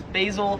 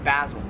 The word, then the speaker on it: basil: This plant right here, I would pronounce this, or Americans would pronounce this as basil. Yeah. However, in Australia, it is pronounced basil.